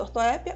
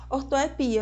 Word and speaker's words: ortoépia: é a própria ortoépia Que ela possa chamada ortoépia ou ortoepia ia a Croata ou a gravata hieróglifo ou hieróglifo Boêmio ou Boemia xerox ou xérox em Pernambuco do conceito de